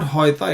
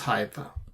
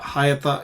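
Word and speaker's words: היתה: If you make this a closed syllable, it becomes hoita. So it is not hoita, it is hayata. It's not hoita. Hayata is correct.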